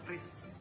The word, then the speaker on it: QRIS: Nah, kalau para sobat rupiah ingin bayar-bayar apa saja agar cepat, mudah, murah, aman, dan handal, itu bacanya Kris, Kris, Kris, Kris, Kris. Ya, tinggal scan aja. Kris bukan curis loh.